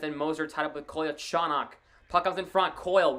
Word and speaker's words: Kolyachonok: They're calling him Vladdy because they don't know how to say his last name. It's Kolyachonok.